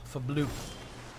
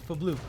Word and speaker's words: Fblthp: His name's Fblthp. That's definitely not his name. It's Fblthp. It's definitely not Fblthp. Yeah, the H is silent.